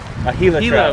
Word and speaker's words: Gila: and get ourselves a gila trout gila dude a helix we're gonna sound like poops if you say gila i'm just kidding i know i know how to say it we're going to